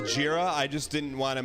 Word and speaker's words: Jira: for your official review the fact that you pronounced JRA that way concerns us that you have never actually logged into our Gyra instance no let's pronounce jira I just didn't want